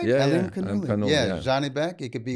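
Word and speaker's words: Alimkhanuly: Yeah, Alim Kanuli.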